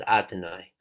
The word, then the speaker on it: Adonai: is because we even the name Yud Kei Vav Kei we pronounce as Adonai, because we're saying the highest realm of Yud Kei Vav Kei, which is really we're not allowed to pronounce. The only way we pronounce is Adonai.